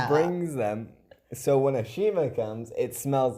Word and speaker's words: Ashima: They got Ashima's name wrong.